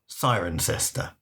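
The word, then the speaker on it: Cirencester: Sirenester is spelled Siren Cester, but they say Siren Cester, not Sirena.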